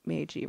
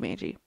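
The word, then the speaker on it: Magie: you spell it m-a-g-i I say Meiji right it doesn't look like it'd be Meiji Monopoly the gift of the Maggie the hard G sound okay Lizzy Meiji in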